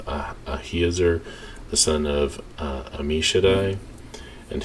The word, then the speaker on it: Ahiezer: of Dan shall be Ahiezer. I think that's how you pronounce it, because I is usually a long E sound. Ahiezer, the son of Ammishaddai,